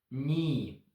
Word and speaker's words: knee: Silent K. You pronounce only N sound. Knee.